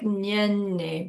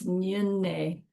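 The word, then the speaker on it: Nyungne: Nyunne. Looks like Nyenne, but it's Nyunne.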